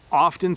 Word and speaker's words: often: It often sounds like we don't pronounce the C, the T.